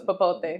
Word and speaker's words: popote: Oh, I can't remember it because now we know it's popote.